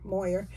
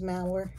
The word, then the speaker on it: Mauer: mauers uh Channel and I've been saying it wrong all for a year Moyer but it is maer and so anyway she